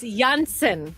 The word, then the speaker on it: Janssen: but German phonetics, so it's Janssen. I Janssen?